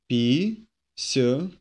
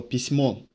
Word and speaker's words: письмо: Письмо. Письмо. With the emphasis on o, письмо.